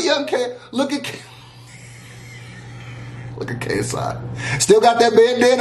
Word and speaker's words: KSI: i like how he constantly says my name wrong psi pfc kgb kfc psi ksi yeah jay you follow me on twitter and